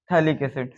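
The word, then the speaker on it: phthalic: adjacent प कार्बोसिंथ acid थैक P silent होता है इसको आप क्या कहते हैं थैलिक्स तो बोला जाए व्ट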